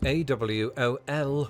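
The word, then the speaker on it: AWOL: more but it means absence without leave okay pronounced a wol l it wasn't until World War part two that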